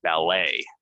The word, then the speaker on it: ballet: of these words are we're not going to say the T it's going to be silent and it's gonna end in a right so uh my daughter she dances she does ballet um here we have